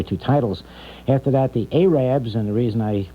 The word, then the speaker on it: Arabs: After that, the Arabs, and the reason I pronounce it Arabs, it's spelled A-R-A-B-S.